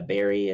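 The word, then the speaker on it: bury: Yeah, Barry and Barry. Like I said, it's just American speak. I want everyone to Barry, hear this B-U-R-Y, B-U-R-Y is pronounced the same.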